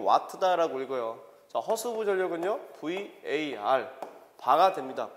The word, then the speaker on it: VAR: W가 쓰고 이건 와트다라고 읽어요. 허수부 전력은요, VAR 바가 됩니다.